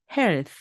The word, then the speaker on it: health: 받침 럼 갑니다 그래서 health health 이렇게 되는 거죠 끝부분은 스 발음으로 끝나게 됩니다 건강이라는 말입니다 health 그렇습니다네 그래서 think health 두 가지다 목이 울리지 않고 바람이 나오는 바로 무성음 th 발음입니다 그러면은 이제 이번에는요 유성음입니다